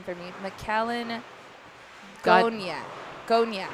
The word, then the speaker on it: Gonya: McAllen Gonya. Gonya. Gagne? It says Gonya. G-O-N, yeah. Gonya. That was me, because I said Gagne.